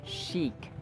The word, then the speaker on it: chic: in sh sh sh but this word is chic chic sh and then long e chic chic yada yada